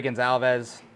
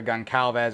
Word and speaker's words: Gonçalves: Same thing with Portugal, Rui Gonçalves, or Goncalves, or however you say it. There's a little accent on the C there.